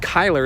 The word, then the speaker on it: Kyler: switched over YouTube and the way you ended up pronouncing my name was correct Kyler is how you say it perfect alright thank you